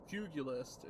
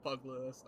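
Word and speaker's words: Pugilist: I say the name wrong and it's only because of Brasten. Uh, fugulist is how you say it, but I call it bug list.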